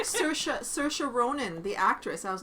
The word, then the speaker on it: Saoirse: Well, it's like Saoirse Ronan, the actress. I was like, Saoirse.